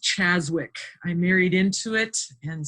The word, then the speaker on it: Czaszewicz: It's actually just pronounced Czaszewicz.